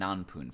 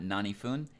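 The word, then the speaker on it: 何分: Well, in Japanese, we have nanji and nanpun for that. Notice that it is not naniji and is not nanifun. It is nanpun and nanji. That is the correct way to pronounce that.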